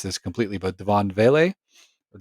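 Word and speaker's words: Devaughn Vele: and I'm gonna mispronounce this completely, but Devon Vele or Devon Vele, You got it one of those two.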